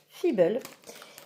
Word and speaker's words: Feeble: moi ça m'a instrigué donc ça se prononce fibel et en fait je